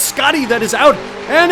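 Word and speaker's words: Schotty: and our leader is shoddy with four it's Scotty um s-c-h-o-t-t-y shot it Aaron if I used your logic then school would be pronounced School hey that sounds cool no it sounds stupid and you're making me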